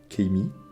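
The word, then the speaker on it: Keimi: le globuleux celui-là aussi Keimy ça c'est comme ça que ça se prononce et vraiment j'ai un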